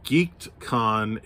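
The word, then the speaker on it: Geek'dCon: i am going to geekedcon in shreveport louisiana and uh i am saying it correctly it is geek apostrophe d khan in shreveport if you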